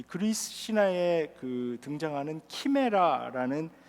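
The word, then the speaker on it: chimera: 근데 그런 얘기가 아니고 요한이 지금 묘사하고 있는 이 말들의 모습은 이 그리스 신화에 등장하는 키메라라는 그 신화적인 동물입니다. 그러니까 이제 호머의 일리아드에 묘사되었는데요. 영어 발음은 이제 카이메라라고 하는데, 이 카이메라는 앞의 모습은 사자같이 생겼고요, 뒤의 모습은 뱀같이 생겼습니다.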